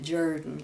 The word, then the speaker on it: Jordan: That family pronounced it Jordan, like Shug Jordan, you know, the coach.